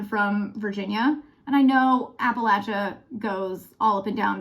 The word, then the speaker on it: Appalachia: not the right way it's Appalachia not Appalachia it's Appalachia Appalachian not appellation so welcome to that